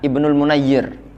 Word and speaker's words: Ibnul Mundzir: Ibnu kholdun menu layer Hola Ibnul mundzir itu bacanya Ibnul mundzir Hai Kama filsafat sebagaimana dalam kitab Fathul Bari